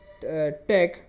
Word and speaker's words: TeX: it as latte okay it kind of ends with a k sound instead of an X sound okay so what latex